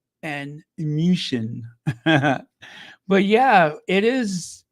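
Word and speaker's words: München: musan yes Venia or musan I'm going to say it like they do in the native countries uh Venia and musan but yeah it is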